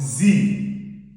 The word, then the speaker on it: sie: Now, we now have sie. In German, S is pronounced as Z. When you see a vowel in front of it like this, it becomes what? Z in pronunciation.